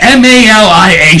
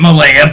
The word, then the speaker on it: Malia: M A L I A. She pronounces it Malaya. But in Hawaii where all the brothers and sisters are, they will tell you it is pronounced Malia.